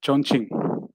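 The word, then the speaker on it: Chongqing: uh it is uh you can pronounce the state as uh chonching so it is it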